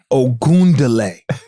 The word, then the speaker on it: Ogunleye: Still people sayal is okay, but it's ound like o where is the d in my last is oundlay.